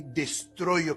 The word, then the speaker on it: destruyo: Este es un sonido que puede ser un poquito difícil al principio, porque cuando la gente habla inglés tiene un sonido diferente en ese idioma. El sonido E, exactamente como lo pronunciamos en español, no existe en inglés. Entonces, al principio es un poquito difícil identificarlo y separarlo de sonidos similares.